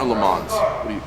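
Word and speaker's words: Le Mans: so to me but you say lar or L man what you I say lar I say l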